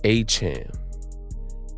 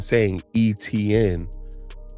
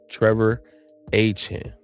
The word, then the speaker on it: Etienne: his brother said that their last name is pronounced H M. So, everybody's been saying Etienne all this time, but it's properly pronounced H M.